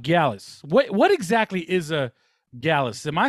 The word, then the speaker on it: Gyalis: What exactly is a Gyalis? Am I saying that right? Because yeah, now you're saying it right. Gyalis, somebody who's good with the gyal them.